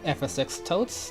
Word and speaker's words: FSX Totes: now I'm your host fsx totes that's how you pronounce it ffs exit or you